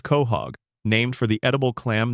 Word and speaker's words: Quahog: The town is called Quahog, pronounced Quahog, named for the edible clam native to the northeastern coast of the United States.